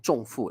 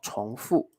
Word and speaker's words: 重复: 第一题，重复、反复、反对，我怎么都念重复了，是重哦，重复。